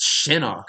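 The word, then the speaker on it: Shinnok: It's Shinok. Please say it right.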